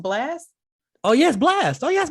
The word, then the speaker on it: Blxst: That's a Blast song.